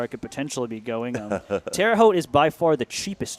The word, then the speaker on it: Terre Haute: Terre Haute.